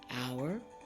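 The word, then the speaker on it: hour: have a word like our and honor the words start with h but you don't pronounce the h and these words you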